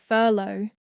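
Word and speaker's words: furlough: sound two this sounds like no and Rhymes were slow the words to remember are although do Furlow thorough and the here's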